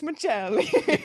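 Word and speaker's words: Maccelli: nominees for this award Matias Michelli I have to say it like that I know you're not from Italy um Dylan Gunther and Corel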